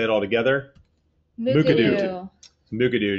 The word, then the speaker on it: Mukurtu: Mukurtu, just kind of slur it out there. So Mukurtu is the reason we're here today.